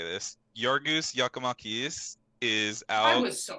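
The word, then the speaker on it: Giorgos Giakoumakis: I'll I'll show you how to say this your goose yakamakis is out I was so close to that play it back read PG yorgas yakomakis uh he got subbed again for injury and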